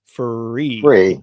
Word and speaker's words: FURE: So, it looks like fure, but it's free.